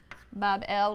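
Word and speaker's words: Bāb-ili: shrine or temple in babylon pronounced bob el which simply means gateway of the god the gate of the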